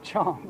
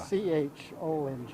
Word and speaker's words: Qiang: It pronounced Chong, like Yeah. Chong.